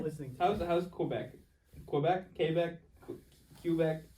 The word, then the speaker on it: Quebec: Quebec? As long as you don't pronounce it Quebec, you're Quebec? fine. So don't pronounce it Quebec. No, because that's just wrong.